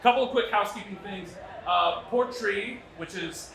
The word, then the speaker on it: Port Rìgh: Port Rìgh, which is how you pronounce this nonsense, right?